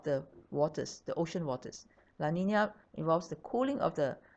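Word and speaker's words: La Niña: Now, in contrast, there's the La Nina phenomenon, pronounced La Nina. La Nina means little girl.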